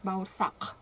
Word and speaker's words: baursak: It calls baursak, but yeah, in Kazakh pronunciation it's baursak.